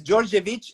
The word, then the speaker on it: Djordjevic: pronouncing your your surname it's georgiovic and because you know in serbian the letter j it's a dj and i okay but you can write it as a d with a little line so